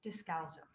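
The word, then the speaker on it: Descalzo: Dowzo. My last name is spelled D E S C A L Z O.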